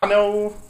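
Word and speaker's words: Ayano: How do you say Ano? Is it Ano? I don't know. It's A-Y-A-N-O. Yeah. It doesn't sound like it's spelled though. It's like I know or something like that.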